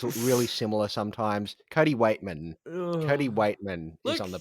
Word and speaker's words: Weightman: and I'll say that his name is Cody Weightman. Weightman. What did I say? Whiteman. You said Cody Whiteman, and Weightman.